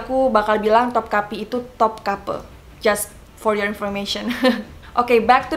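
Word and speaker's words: Topkapı: kaki di istana topkapi Kenapa bacanya top couple itu aku ngikutin creature gaib aku yang orang Turki waktu dia menjelaskan tentang istana topkapi itu ketulusannya topkapi ya dia bilang top couple jadi aku bakal bilang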